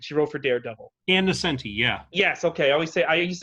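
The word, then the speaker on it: Ann Nocenti: I'm going to say their name wrong, but she wrote for Daredevil. and Nascenti, yeah. Yes, okay. I used to call her Anne Nonichetti or something when I was a kid.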